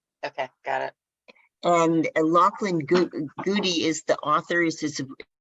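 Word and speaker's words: Goudie: into um in lachlan uh he oh lachlan goody it's it's spelled g-o-u-d-i-e and if he does lectures on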